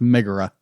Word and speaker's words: Megara: But not long after they leave Phil's island, they meet Megara, or Meg, a sarcastic damsel whom Hercules saves from the centaur Nessus. It's pronounced Megara. Megara.